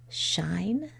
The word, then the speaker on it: shine: Did you read that word as shine? And did you add the silent E? If you didn't, you'd have a closed syllable and the word would say shin. So it's really important to add that silent E.